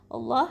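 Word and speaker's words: الله: jalalah Allah lillah ya, Allah seperti itu. Tapi kalau di standar Madinah di sini membacanya tanda bacanya tidak panjang, tapi kita membacanya panjang karena lafaz jalalah itu dibacanya dengan panjang ya.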